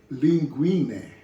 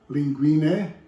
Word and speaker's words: linguine: And this is a Barilla made linguine pasta that I'm going to use. And in English you will probably say linguine, but this is Italian dish, and Italian pronunciation is linguine.